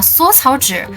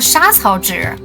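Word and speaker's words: 莎草纸: 还有就是老高把缩草纸读成了沙草纸。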